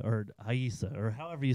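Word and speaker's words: Rayssa: If it starts with an R, it's an H sound.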